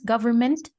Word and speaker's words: government: Government, forget the N. Environment, also the N, because we don't pronounce it, but it's Oh.